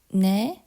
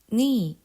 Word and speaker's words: 너: say you're in korean na or more commonly pronounced as ni okay how to say